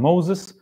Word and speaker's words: Moshe: Moshe and Moses that Moshe is in Hebrew like he pronounced it today but in the Greece they could not pronounce most likely as mhe very hard so they were saying or something like this so they were saying Moses uh and in every